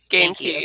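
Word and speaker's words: Ganke: It's like gain, like to gain something, and key, like a key. Gain key.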